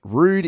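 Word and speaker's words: Roux'd: album by Rude yes rude intentions is the name of their new album and rude by the way is spelled r-o-u-x apostrophe D which I think is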